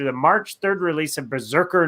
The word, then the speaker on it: BRZRKR: It's so weird how it's spelled. It's BRZRKR. So it's like, I know it's Berserker, but it's hard to like read it that way.